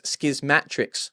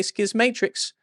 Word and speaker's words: Schismatrix: Bruce Sterling's Schismatrix. I want to say schism matrix, but the intro to the book, he tells you that's not how to pronounce it. It's schismatrix.